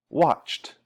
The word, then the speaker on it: watched: If the last sound is unvoiced, ed is pronounced t. So here we have watch, watched, watch, watched.